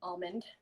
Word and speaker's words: almond: like vanilla, almond extract, or almond if you're the type of person that pronounces it almond. I grew up pronouncing it almond. Apparently that's wrong.